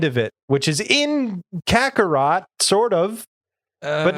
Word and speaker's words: Kakarot: it, which is in Kakarot, sort of, but not really. Yeah, we've had it explained because in Japanese it's Kakarato with the like O that is not there in the English translation.